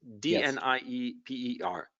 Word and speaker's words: Dnieper: Okay, it's D-N-I-E-P-E-R, but it's pronounced Dnieper.